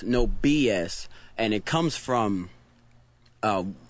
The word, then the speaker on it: NobyuS: get that a lot we get no bias a lot because uh because it's n-o-b-y and a lot of people because bye but it's phonetically it's no BS and it comes from